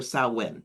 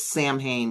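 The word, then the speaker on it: Samhain: You know, the Gaelic festivals, the it's called Sam Hayne, Sam Sa or Sawin, sorry, Sawin, not Sam H. looks Sam Hayne but it's pronounced sawin where they celebrate from October 31st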